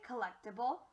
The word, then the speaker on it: collectible: So instead of it being call, it's actually pronounced co.